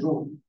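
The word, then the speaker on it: ρ: রো বাংলাতে রয়কার রো উচ্চারণ হচ্ছে রো পি না এটা হচ্ছে পি।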